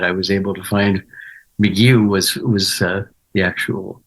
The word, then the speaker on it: McGough: And I thought, but I was able to, with the thanks to the internet, I was able to find McGough was the actual pronunciation, at least of my branch of that.